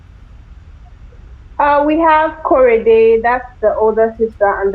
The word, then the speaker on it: Korede: But what are well, how do we correctly pronounce the sisters' names? We have Korede, that's the older sister and the narrator of the book.